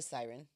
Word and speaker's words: Syren: somebody how do you introduce yourself usually a siren a siren okay siren it is Sarat her last her god-given last name siren is her nickname well now it is satat